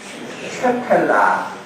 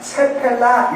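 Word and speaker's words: Shephelah: 가이드 발음을 유심히 들어보면 쉐펠라, 이 발음이 가장 정확해요. 근데 여기 책을 보면 세펠라 이렇게 돼 있고, 어떤 책은 스펠라, 이것도 여러 가지로 나와 있어요. 그런데 쉐펠라가 가장 비슷한 발음일 것 같습니다.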